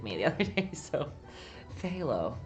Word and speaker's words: phthalo: I've been calling it phthalo for a year until someone corrected me the other day, so phthalo. The P is silent.